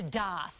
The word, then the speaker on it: daith: the ear we're talking about it's called the doth and yes that's how piercing artists say it's pronounced some people who suffer from chronic migraines